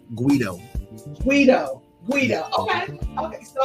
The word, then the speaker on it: Quedo: name right okay um it's actually pronounced like uh Guido Guido Guido okay okay